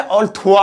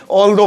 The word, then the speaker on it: although: अब ये जो ऑल्दो, पहले इसकी स्पेलिंग देख ले, इसे ऑल्थुआ मत पढ़ देना, ये अजीब सा लग रहा, ऑल्थुआ, ऑल्दो पढ़ते हैं इसे।